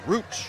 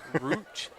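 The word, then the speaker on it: Ruch: Rook. It's spelled R-U-C-H. If it was an I in there instead of the U, it'd be Rich, right? It would be. Okay. Just replacing the I with a U.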